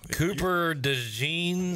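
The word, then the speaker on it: Cooper DeJean: fade I'm telling you that was his deal Cooper de Jean is how you say that guy's name he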